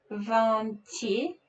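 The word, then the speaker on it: vingt: so we already remember so g is silent t connects to this e von t and i want you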